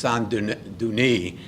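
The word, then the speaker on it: Saint-Denis: cathedrals in France uh I would pronounce it's St Dennis but I believe in French it's sanun duni uh where the idea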